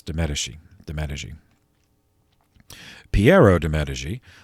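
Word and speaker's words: de' Medici: right that family uh it's spelled d apostrophe m-e-d-i-c-i but it's de medeshi the managing piero de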